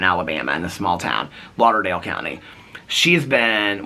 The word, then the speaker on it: Lauderdale: Lauderdale County she's been which they pronounce differently it's like laderdale County or something like that but anyway they have been maybe it's their accents I don't know but they it wasn't like Fort Lauderdale how they pronounced it it was similar but different but anyway she's been